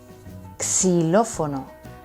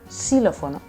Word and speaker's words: xilófono: Xilófono. Y yo les digo, se pronuncia xilófono, como una s, xilófono.